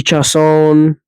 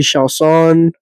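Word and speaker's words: Chiasson: Shout out Udica for uh teaching me how to say it right. Said it wrong on the last pod that I went on them with. But uh yeah, she got absolutely dog walked and elbowed by Macy Shaan.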